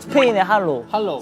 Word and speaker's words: Hola: You guys just want to sound fancy HOLA! [Pronounced as 'Ola' in Spanish] DOYOUNG can say piro